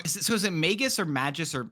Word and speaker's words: Magus: is it Magus or Magis or how do you say this name? Because you've said it twice and I've heard people say a bunch of names. Magis. Okay. Like a mage.